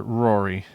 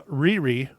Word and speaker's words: Riri: know um the character Rory so I have a theory about this Mike okay so uh Riri is actually how you pronounce her name is it's okay I'm